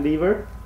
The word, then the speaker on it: Lever: Fat Lever, even though it's spelled like lever.